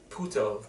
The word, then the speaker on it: Poirot: Death on the Nile not only is directed but also stars Kenneth Branagh as the world-renowned detective Puto. They pronounce it differently depending on what accent you have.